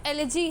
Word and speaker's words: elegy: तो इसका पहले प्रोनाउंसिएशन काफ़ी लोग गलत बोलते हैं, तो इसका प्रोनाउंसिएशन एलिजी है और कुछ मत पढ़ देना ना।